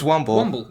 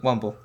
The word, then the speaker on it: Womble: It's Womble. Womble. Like a Wombly man.